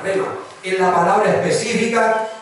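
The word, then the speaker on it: rhema: Se escribe así, R-H-E-M-A, rema.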